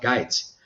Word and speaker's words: Gaetz: Esta moción de desalojo, que como tú bien has dicho, Matt Gaetz, tiene, por cierto, el apellido es alemán, si lo pronunciara a la alemana, Matt Gaetz, representante de Florida, del primer distrito.